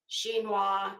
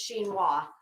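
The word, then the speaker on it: chinoiserie: r r e She it looks like it should be Shino but it's it's shinoa uh so I took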